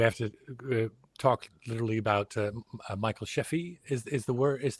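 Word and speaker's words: Michael Scheffe: KITT, and we have to talk literally about Michael Sheffey is the right way to pronounce that? Yeah, Michael Sheffey.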